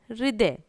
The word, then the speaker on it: हृदय: हृदय मतलब हा के अंदर री की मात्रा का प्रयोग हुआ है, लेकिन उसको पूरा नहीं होता है, इसलिए हम नहीं लगाते। हृदय यानी थोड़ा सा साइलेंट है वो, यानी दिल, इसका